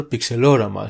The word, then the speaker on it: Pixelorama: We also pronounce our sprite editor Pixelorama since it's derived from the same word, but you can pronounce it however you want.